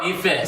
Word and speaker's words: Ife: Oh, and Ifa as well. You cool with that? Ife. Say it properly, man.